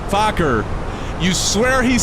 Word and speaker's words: Fokker: Shane, it's pronounced Fokker. Fokker.